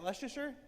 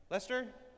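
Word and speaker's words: Leicester: How do you say, is that Leasher? Lester. Lester.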